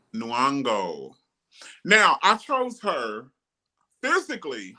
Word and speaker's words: Nyong'o: Nyong'o. Nyong'o.